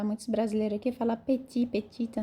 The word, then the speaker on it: petit: É le petit, não é petit não, tá? Muitos brasileiros aqui falam petit, petita, não, é petit, petita. O E tem som de O, então vai ficar petit roi, roi de la maison.